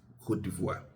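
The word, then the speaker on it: Côte d'Ivoire: Ghanaians prefer calling them ivory but alert they prefer to be called. That's why um I tried to um pronounce it Kivvoir.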